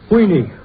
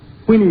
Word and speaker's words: Queenie: hot stuck you are heiny Queeny not heiny Queenie rhymes with meanie how does old song